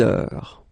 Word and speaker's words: heure: Il est 6 heures. All right, so you write it like that. Remember, H is not pronounced, okay? So it goes like heure.